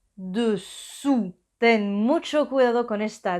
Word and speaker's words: dessous: Dessus es el sonido U. Y os recuerdo que para hacer un U empezamos pronunciando una I y luego ponemos los labios en círculo. I, U, dessus y dessous. U es el sonido U como la U española, dessous.